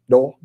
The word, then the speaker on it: Dole: Did I say it right? Dole? That's right. You got it.